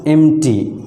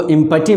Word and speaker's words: empty: और third option में आपका लिखा हुआ है एम्प्टी। इसको इम्पटी मत पढ़िएगा, इसको क्या पढ़ा जाएगा, एम्प्टी, EMPTY, एम्प्टी।